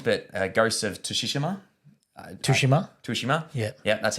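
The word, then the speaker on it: Tsushima: of um games but uh ghosts of toshishima tushima shima yeah yeah that's how you pronounce it um the the director chad stahaski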